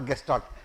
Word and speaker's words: Gestalt: Gestalt or Gestalt. For me, G is pronounced as G.